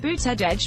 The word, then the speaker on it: Buttigieg: him in action before buta judge pronounced booted edge as his campaign signs helpfully suggest said he's called mayor